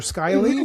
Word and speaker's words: Skyleigh: And again, obviously, and am I pronouncing, I wasn't sure, Skyleigh?